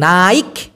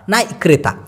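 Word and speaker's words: naik: চড়াকে বলা হয় নাই যদিও উচ্চারণটা হওয়া উচিত এন এ আই কে নাইক নাইক কিন্তু ক টাকে ওরা ছোট উক্ষ ভাবে উচ্চারণ করে বিধায় এই নাই মনে হয় নাই লা ওঠো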